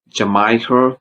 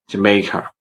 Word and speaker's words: Jamaica: I hear some people say Jamaica, maybe by looking at the spelling MAI, but don't say Jamaica, please say Jamaica, because if we say Jamaica, people might understand us, but it's not